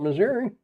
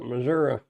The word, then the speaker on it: Missouri: I pronounce it with an I at the end, not an A. Well, when you watch those old westerns, they call it Missouri.